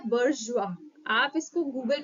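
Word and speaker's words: bourgeois: आई ओ एस आई लेकिन इसका जो प्रनंसीएशन है वो है बुर्ज जुआ आप इसको गूगल पे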